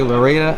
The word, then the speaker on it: Loureda: I'm here with Valerie Loureda. I pronounced that correct, right? Yes, Valerie Loureda.